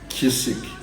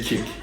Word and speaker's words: kick: that c but however that c in the kick you do not pronounce it you do not hear it when when when someone is saying kick they don't say kisik you know they say kick and then you don't hear the sea but the sea is